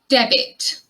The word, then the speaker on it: debit: of fresh ginger ginger this word is debit debit deb it sound there in the second syllable many people use debit